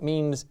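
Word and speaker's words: mesne: it looks like it's spelled mesme but it means it's pronounced mean and it means intermediate assignment so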